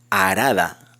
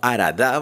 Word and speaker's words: Arada: Entonces aquí puede ser arada, no aradá, porque no tiene acento.